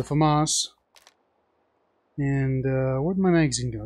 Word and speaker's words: FAMAS: I'm gonna go with the FAMAS or the FAMAS if you know how to pronounce it correctly is the FAMAS and what my magazine